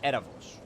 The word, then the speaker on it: Erebos: And if I'm correct, Erebos is pronounced Erabos. Or Arabos. Yeah, maybe Erebos. Or Erebos in Greek? Oh, you mean the V sound. The Vita sound. It's like the V in English.